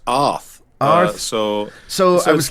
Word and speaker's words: Arð: ahead as if you as if you were going to say the word Arthur um but the th is supposed to be a little bit more a little harder so the th as